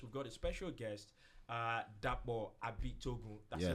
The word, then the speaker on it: Dapo Abitogun: show today because we've got a special guest, Dapo Abitogun. That's the right pronunciation, right?